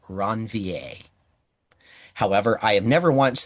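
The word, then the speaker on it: Ranvier: Uh, but be aware the proper pronunciation is nodes of Ronvier.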